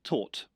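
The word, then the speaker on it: Tóth: So, first of all, I asked my Hungarian friend how to say this surname, and he said, "Well, first of all, you can't." Um, but a a good a good attempt might be tort.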